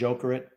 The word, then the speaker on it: Jokerit: I believe it's pronounced Jokerit is the place that he went to.